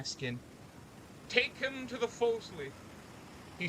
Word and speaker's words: forecastle: Unlike many captains, I'm no stranger to the forecastle.